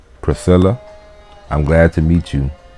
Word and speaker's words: Priscilla: them spelling but therefore pronunciation in latin and english and english is priscilla and latin is priscilla priscilla the sea and the c on wolf got a different sound one got the s sound english and the latin